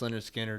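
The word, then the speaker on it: Lynyrd Skynyrd: And man, you got Pronounced Leonard Skinner.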